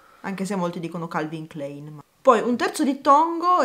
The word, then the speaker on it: klein: caro anche nelle lettere il secondo dittongo e e che si pronuncia ai einstein chi non ha mai sentito einstein oppure nella parola klein piccolo anche qui si trova